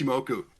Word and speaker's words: Ichimoku: indicator like and I think it's pronounced, say, IchiMoku. So I'm not sure if that one's available, but hopefully I ah, didn't butcher that one. But- Jason- You know, you got it right. It's IchiMoku, and some of the names of many technical